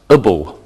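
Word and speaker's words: -able: An adjective can end with A-B-L-E, which is pronounced ibble.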